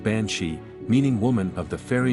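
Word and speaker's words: bean sí: comes from the old Irish term Bean City pronounced bansi meaning woman of the fairy Mound or fairy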